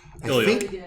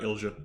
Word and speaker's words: Ilja: Ilya. I think that was later. Okay. Yeah. Ilya, not Ilja. Ilya. Ilya. Yeah. The J is silent. The J is not pronounced.